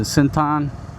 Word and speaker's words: Central: Thai folks pronounce it Sintan, by Sintan Krap.